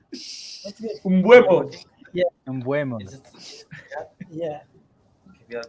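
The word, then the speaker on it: Mbeumo: And one individual player, his name starts with M, Mombuebo or something like that.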